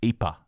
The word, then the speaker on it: Ieper: pronunciation and spelling well the spelling of the town is ieper and the pronunciation is ipa and so that is